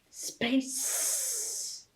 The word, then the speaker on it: space: Space. This is a soft C. It's not K, it's a S. And E, because it has a bossy E on the end that makes it go S.